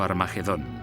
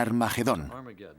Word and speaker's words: Armagedón: De hecho, en las primeras versiones del Nuevo Testamento escritas en griego, Armagedón tiene una aspirada al principio, que significa que se pronuncia con H inicial. Por tanto, originariamente era Har Magedón y podemos pasar de Har Megido a Armagedón muy fácilmente.